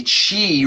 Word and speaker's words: Chi: There's books about Chi running. There's videos. I'm sure there's plenty of YouTube channels about it as well. And essentially, it's spelled C-H-I and then running behind it. So Chi running, C-H-I.